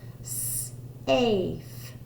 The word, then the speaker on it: safe: And again, we have a silent E telling the A to say its name. Safe. Safe.